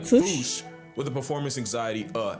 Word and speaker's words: fossa: Experts, feel free to correct me, but apparently that is the closest to the OG Malagasy pronunciation. It's just that the global game of telephone has Americans saying "fossa" while England pronounces it as "fossa".